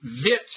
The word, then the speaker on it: Wits: And you are associated with it's Wits, I think, although it's spelled W-I-T-S, Center for Ethics in South Africa.